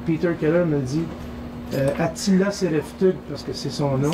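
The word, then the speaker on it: Sereftug: Un moment donné, je reçois un coup de téléphone et Peter Keller me dit Atila SFTug parce que c'est son nom, c'est CFTug, c'est S E R E F T U G.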